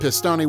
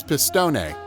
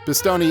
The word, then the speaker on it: Pistone: When Joe receives his commendation, the official mispronounces his name as Pistone, causing his wife to roll her eyes. Pistone has sacrificed 6 years and nearly destroyed his